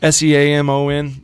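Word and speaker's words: Seamon: Jake Salmon? Salmon, like the color of the bass. Kind of like the color of the bass, yeah. Samon.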